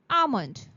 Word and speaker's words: almond: The first word is almond. Almond. It's not almond. The L in almond is silent.